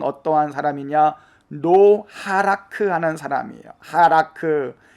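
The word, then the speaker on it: הלך: 그래서 하라크라는 단어는 3인칭으로서 그가 가다, 그가 걷다, 그가 행하다 라는 의미가 있는데, 어근으로는 해, 라메드, 카프. 그래서 이거를 하라크라고 읽습니다. 하라크.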